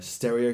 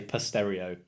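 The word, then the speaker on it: Pstereo: cultural life like their stereo festival that's stereo with a P in front of it but if you in the know you don't pronounce it I've heard a lot of people say pass stereo it's very confusing yeah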